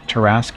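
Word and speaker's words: Tarrasque: myself won't be the last mostly here to pronounce tarask according google that's jeff's okay well terrasque it is then google is never wrong apparently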